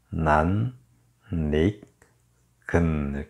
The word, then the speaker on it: 낯익은: 얼굴로 거울을 빠져나가요라고 했네요네 낯익은 낮 발음 좀 어렵죠 낯익은 이렇게 발음하셔야 돼요 난 닉은 낯익은 젊은 여자 하나